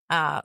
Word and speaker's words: Florlist: It's spelt Florlist, like florist, but with list at the end.